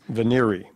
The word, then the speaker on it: venire: Veneri, are there any alternate pronunciations? Veneri.